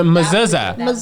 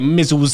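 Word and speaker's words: mezuzah: And it's not that's not even how you say it. That makes it It's a And it's a mazuza. It's a mazuza. You say mizuza.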